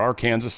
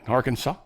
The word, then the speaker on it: Arkansas: Uh, big massive tornado tore through Arkansas or our Kansas as I like to call it. But considering what's going on there, I'm going to be slightly more respectful. Right. Arkansas. We'll say it correctly for the time being.